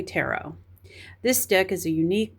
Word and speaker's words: tarot: Some people call it Terret. I don't know. How do you pronounce it? I say tarot.